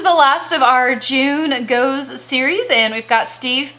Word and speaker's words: Gose: On the back it says this is our interpretation of Gose, and on here they actually says pronounced Gose. So my Gose is totally wrong. It's Gose.